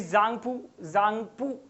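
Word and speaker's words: Tsangpo: So the Brahmaputra known as the Zangpu, okay, T-S-A-N-G, that is what they call as Z. They pronounce T-S as in Z, obviously.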